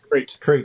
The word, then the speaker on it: Crete: Crete. Yeah. Oh, Crete, is that how you pronounce it?